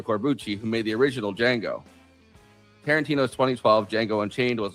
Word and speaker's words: Django: Django. Can you spell it? D J A N G O. The D is silent.